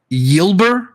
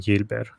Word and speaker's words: Yilber: don't say this right is it y yilber Diaz I guess it would be yilber Gilberts is he like Dominican per or something because the way they do it they they phonetically spell the names out so that you're going to see a lot of Y but with the Y and stuff like that so it should be yilber so I'm guessing the